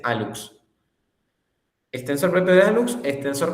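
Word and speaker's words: hallux: El alux se le llama al primer dedo, al dedo gordo del pie se le llama alux. Y se escribe con hlux, pero se dice alux.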